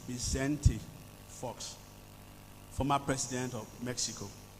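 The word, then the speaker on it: Vicente: sayings of bentti false most of us will call him Vincent but recar tells me that and I actually did ask him this morning the correct pronunciation of his first name it is bente Fox former president of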